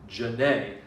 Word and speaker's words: Janae: name is janae um and you say ja you don't stress the jump or you stress the a part janae i say that's very